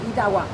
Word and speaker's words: Itauguá: y quedó como Itaúa. Con la U. La Y se reemplazó. Que hablando por la rápido, U. Itaúa. Sí, Itaúa.